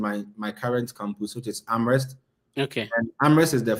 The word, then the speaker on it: Amherst: You need to pronounce it well. Other than that, people will butcher that name. So University of Massachusetts Amherst.